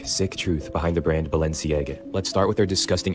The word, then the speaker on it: Balenciaga: लोग इसको बैलसियांगा कहते हैं, कोई बालशियांगा करके बोलते हैं, लेकिन उसने इसकी सही जो प्रोनाउंसिएशन है वो बताई है कि कैसे इसको बोलना है।